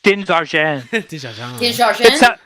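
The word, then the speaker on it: Din Djarin: freaking name uh now i always pronounce it like it's french din zarzhan the people who are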